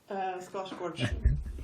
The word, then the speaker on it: Skarsgård: Je vais mal prononcer le nom, tu me corrigeras, Katharina. Les Skarsgård. Skarsgård. Oui, non, mais c'était bien. Le famille Skarsgård. Voilà, c'est beaucoup plus joliment dit.